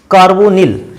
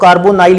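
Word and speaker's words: carbonyl: इसके बाद आता है CO, कार्बोनिल, या कुछ लोग कार्बोनाइल इसको पढ़ते हैं, कार्बोनिल ग्रुप कहते हैं इसको।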